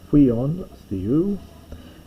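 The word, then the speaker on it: υἱὸν θεοῦ: Remember I mentioned with this hui, with the hard breathing, you pronounce this as huion theou, and the Christon and the Christ, and had ascended to the thronon theou.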